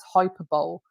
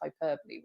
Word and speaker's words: hyperbole: for an entire year i taught it to students as hyperbole and it wasn't until the end of that first year when somebody actually turned around to me and said you do know it's pronounced hyperbole right and i think that